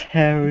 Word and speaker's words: hair: Jill's hair is longer than Jane's. Mm-hmm. Yes? You know, in this case, we have to pronounce the sound R, even in British.